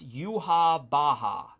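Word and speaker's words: Yahweh: just read that um it's pronounced you ha baha you ha baha okay you ha bah that that makes sense here god's name is yhwh without the vowels so that's probably uh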